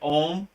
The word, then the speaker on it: om: Vasa yeah so that that's basically how you pronounce it om that that looks like o om but it's really really om right some people spell